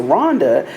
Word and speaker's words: Rwanda: of them was Rhonda we pronounced it Rwanda but they pronounced it Rhonda and you know the